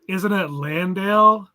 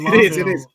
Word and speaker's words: Landale: Now, isn't it Landale? People have been pronouncing it Londale.